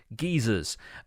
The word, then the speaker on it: geysers: I instantly thought of geysers, or as we pronounce them in the UK, geysers.